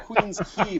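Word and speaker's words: Queens Quay: We got a place called Qui Quay in No, it's actually pronounced Queen's Key, but most people mispronounce it.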